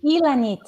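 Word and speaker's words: Llanit: hi good evening guys hi how do you pronounce your name Elan okay oh say it again that was beautiful thank you Elan it's me a little tree it's yes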